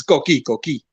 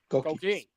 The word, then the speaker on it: Koki: It's Koki. I'm never gonna Koki. So it's almost like cookie, only Koki. Koki.